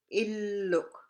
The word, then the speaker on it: illuk: The L sounds the same as English, like illuk. Remember, you got to stress your two L's there.